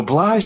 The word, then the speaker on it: Blaj: Um, so blah is indeed a town in Transylvania. And that's a perfect pronunciation.